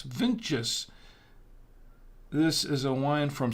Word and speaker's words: VINTJS: It can sound like vintages, but it's VINTJS.